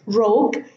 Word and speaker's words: rogue: Rogue, same thing. The U is silent and the E is silent.